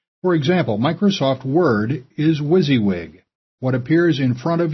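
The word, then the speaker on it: WYSIWYG: as easy as as possible I'll be using wizzywig software and wizzywig of course stands for what you see is what you get for example Microsoft Word is wizzywig what appears in front of you is generally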